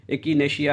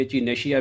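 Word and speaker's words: Echinacea: एकिनेशिया भी कहते हैं, इचिनेशिया भी कहते हैं।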